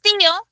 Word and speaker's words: tío: Pero tío lleva tilde en la I. Y no es un caso de hiato. Es un caso de... no es un caso de diptongo, es un caso de hiato. Dos sílabas. Ti, Oh.